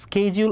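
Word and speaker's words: schedule: সিরিয়াসলিটি ঠিক আছে স্যারশিডিউলের স্কেজ স্কেজউল অরশিডিউল এখন দেখ স্কেজ স্কেজউল এন্ডশিডিউল স্কেজ British pronunciation এন্ডশিডিউলডশিডিউলড is American pronunciation Radia I hope I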